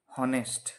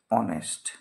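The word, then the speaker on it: honest: ভাওয়েলের মত হচ্ছে যেরকম ধরো এইচ ও এন ই এসটি আমরা জানি এইচ থাকলে তার উচ্চারণ হওয়ার কথা ছিল হ তাহলে এখানে উচ্চারণ কি হওয়ার কথা ছিল হনেস্ট কি হওয়ার কথা ছিল হনেস্ট কিন্তু প্রকৃতপক্ষে তার উচ্চারণটা কি হচ্ছে প্রকৃতপক্ষে এর উচ্চারণটা হচ্ছে অনেস্ট তাহলে এই যে অথাটা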